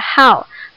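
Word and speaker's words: 号: Satu itu bacanya adalah hao.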